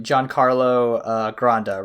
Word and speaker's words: Giancarlo Granda: Giancarlo Granda, right?